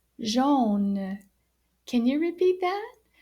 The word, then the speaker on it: jaune: is the spelling of yellow and it is pronounced jean can you repeat that jean now jean is written the same way when